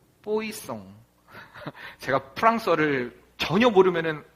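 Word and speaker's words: Poisson: 이건 뿌아종이 아니라 뽀이송.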